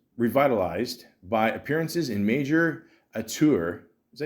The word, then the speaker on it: auteur: Fraser's film career was revitalized by appearances in major auteur.